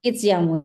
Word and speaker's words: It's Jamu: Oh, ternyata bacanya It's Jamu ya, Bu? It's Jamu ya.